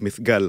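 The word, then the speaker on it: Mithqal: and welcome to the telev review hello so mygal Al is that how you pronounce his name yeah there are several way as you can that the way he pronounced his own name is mygal mygal okay that the bedwin way who was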